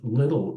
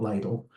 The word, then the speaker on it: Little: And first of all, Charles Taze Russell, father, Joseph Little Russell, and that's pronounced Little, it's not Lytle, was the son of Scots and Irish parents.